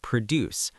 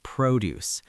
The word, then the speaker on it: produce: Note the pronunciation here. As a verb, it's produce, but as a noun in a grocery store, it's produce.